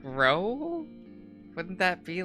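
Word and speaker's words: Rou: I've been saying, like, Rao for him, and then I heard someone pronounce it as Ro, and by someone I mean the creator of the game.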